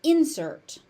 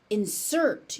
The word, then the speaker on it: insert: pronunciation pattern one where the stress pattern shifts depending on how it's being used. So as a noun, it's an insert.